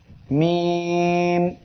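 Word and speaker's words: م: মিম। এই অক্ষরটি ঠোঁটের শুকনা অংশ হইতে মিম উচ্চারিত হয়। এই ঠোঁটের এই শুকনা অংশ থেকে উচ্চারিত হবে মিম এবং 3 আলিফ টান হবে।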